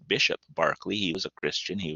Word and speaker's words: Berkeley: was locke there was barkley it looks like berkeley but he's british and so that's how you pronounce it bishop barkley he was a christian